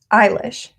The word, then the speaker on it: Eilish: Billie, how do you pronounce her last name? Eilish.